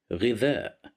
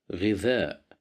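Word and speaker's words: غذاء: Here we have Kasra right below the letter Ghain, so we will pronounce it as Ghi, Ghidha, Ghidha, Ghidha, which means food,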